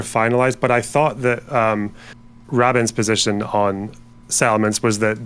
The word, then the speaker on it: Rabin: Like every fucking Israeli person I've spoken to, which is like 3, I've heard say this, is they pronounce it Rabin.